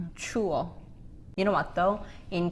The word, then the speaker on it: 추워: And this has to be two syllables. 추워. 추워.